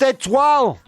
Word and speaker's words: étoile: It's pronounced étoile!